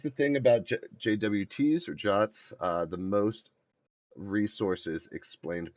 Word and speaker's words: JWT: So, uh, JSON web tokens, JWTs, pronounced jotss.